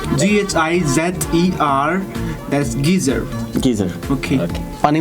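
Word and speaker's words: Ghizer: you pronounce Gizar? Gizer.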